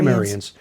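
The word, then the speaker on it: Cimmerians: Sumerians is C-I-M-M, by the way. Yes. Often pronounced Kimmerians. Or Kimmerians.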